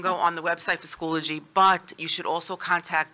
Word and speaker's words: Schoology: have to comment so I pronounced Schoology school ology oh so it's Schoology I believe is that correct pillaging older G okay